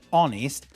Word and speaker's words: honest: The word honest has a H in the spelling, but in the phonetics, in the pronunciation, it doesn't.